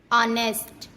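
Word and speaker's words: honest: जब ओ से पहले एच आता है तब हमेशा एच साइलेंट होता है। जैसे ऑनर, ऑनेस्ट, आवर, इको।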